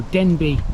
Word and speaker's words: Denbigh: I promise you that is how Denbi is pronounced. It's a Welsh name. It's not Denbig, it's Denbi.